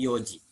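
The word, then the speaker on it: 四時: ichiji Nidji Sanji Yoji khusus untuk jam empat dibacanya iokj jadi jangan CD bukan CD tapi Yoji gojiro fujiseiki Ji haji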